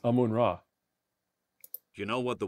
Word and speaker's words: Amun-Ra: Or there's discovering the Siwa Oasis and being acknowledged as the son of Yamanarar. I'm sorry, how did you pronounce that? Yamanarar? It says Amun-Ra.